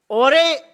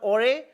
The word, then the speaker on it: Jorge: रहे हैं, इसको टीम ओरे, शायद इसे प्रोनाउंस किया जाता है JORGE, I think in the dialect there it's called ओरे।